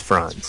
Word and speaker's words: Franz: uh France France is that how you pronounce it France or France uh it's France yeah France okay um many people have seen